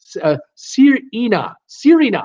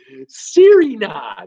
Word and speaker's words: Sirena: Sirena, proud pronounced. Oh, okay. Sirena. Oh, thank you. I had no idea what you were doing. Sirena, that's how we pronounce the name.